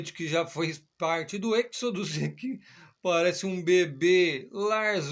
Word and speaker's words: Exodus: Aí o pessoal fala Exodus, né, meu? A gringaiada aqui no Brasil, Exodus, Êxodos. Enfim, em português, eu cheguei lá, brinquei com o cara, em vez de falar Êxodos, falei Exodos, ele, Êxodos. Enfim, o cara pronunciou em português.